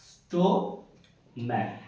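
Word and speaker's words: stomach: এবার সিএইচ এর উচ্চারণ ক হবে এক জায়গায়, দেখো স্টোম্যাক, স্টোম্যাক। তাহলে সিএইচ এর উচ্চারণ কি হচ্ছে?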